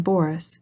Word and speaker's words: Boris: as she followed him she pronounced the name boris with the accent on the first syllable i cannot stay any